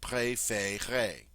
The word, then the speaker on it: préférez: The same with the vous form, préférez.